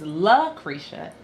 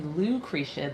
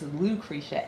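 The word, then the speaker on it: Lucretia: So, LA and people think my name is La Kisha. It's actually Lou KCA. The L is my first name and my middle initial. Um, so it's Lucriccia, L U C R E T I A, not LCA.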